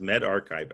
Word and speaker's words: medRxiv: It's pronounced medRxiv, a preprint server.